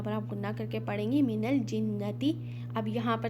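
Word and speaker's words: مِنَ الْجِنَّةِ: अब यहाँ पर देखिए फिर से हमज़तुल वसल मीन्स यहाँ पर हमज़तुल वसल साइलेंट अलिफ, तो हमने यहाँ पर नून को लाम में मिला देना है। मीनल जिन्नती, नून मुशद्दद, यहाँ पर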